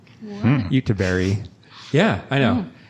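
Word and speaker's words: Göteborg: would say Gothenburg but what I discovered the swedes pronounce it as YouTuber Utah Berry yeah I know it's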